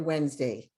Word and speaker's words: Wednesday: they don't realize is the d is silent in the word wednesday so we have three syllables when you can have